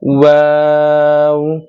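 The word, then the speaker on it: واو: তারপরের হরফ হলো ওয়াও। ওয়াও হরফটা একবারে নরম হবে এবং দুই ঠোঁট দিয়ে উচ্চারণ হবে।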